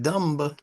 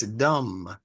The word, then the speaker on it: dumb: They don't tell you to pronounce it. It's not Yeah. pronounced dumb, it's dumb.